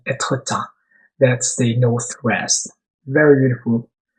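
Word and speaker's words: Étretat: That's a beautiful city called Etretat, or the French pronunciation Etretat.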